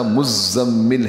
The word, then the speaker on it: مزمل: یہ نام بھی رکھا جاتا ہے، ہمارے یہاں مردوں میں نام رکھتے ہیں اور لفظ کہتے ہیں مزمل، تو صحیح تلفظ اس کا مزمل ہے.